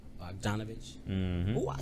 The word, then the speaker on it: Bogdanovich: Bogdanovich.